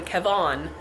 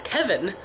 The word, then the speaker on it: Kavon: him all the time Kavon they'd be like hey Kavon and he's like my name's not Kavon it's Kevin but it's spelled Kavon so no I don't